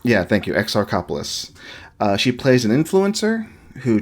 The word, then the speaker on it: Exarchopoulos: French film starring, I cannot pronounce her last name, Adele Exarchopoulos. Exarchopoulos. Yeah, thank you, Exarchopoulos.